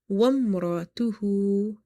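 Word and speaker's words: وَامْرَأَتُهُ: Wamratuhu. Never read it wa'am because alif is not functional here.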